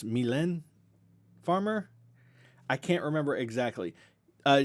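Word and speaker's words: Mylène Farmer: listening from over there myleene or or wait no it's not mylean i know how to pronounce this now it's it's milan farmer i can't remember exactly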